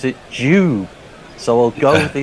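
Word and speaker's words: Dube: That the Jersey Jingler says, sorry to burst the doob bubble, but Dion Dublin pronounces it Jube.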